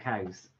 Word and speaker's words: Cowes: Because there's a place in the Isle of Wight called Cows. Oh, but it's spelled Cowes.